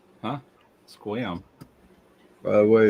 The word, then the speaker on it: Sequim: I always said Squim. Huh? Squam. By the way, it's spelled Squim.